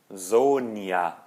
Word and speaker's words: Sonja: Depois, o J em alemão tem som de I. Tá? Então, por exemplo, ja. Sonja. Zoia, né?